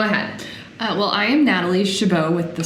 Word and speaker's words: Chabot: I'm getting nervous Natalie how do we pronounce your last name Shiva Natalie Shabo I've known Natalie for quite a while please don't get that wrong her last name has a silent T and those intimidate me